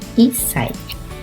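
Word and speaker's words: 一歳: 1 ano de idade se fala isai. É esse kanji aqui, se fala isai. Então tem uma pausa aqui, né? Que tem esse tsu pequenininho, então fala isai.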